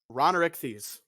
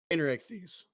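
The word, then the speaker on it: Rainerichthys: We have Rhonorichthes. Rainerichthes. What? This Rainerichthes. Okay, okay. Rainerichthes, yeah.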